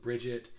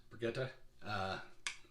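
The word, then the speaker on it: Birgitte: it was you know it wasn't bridget it was brigitte so i had an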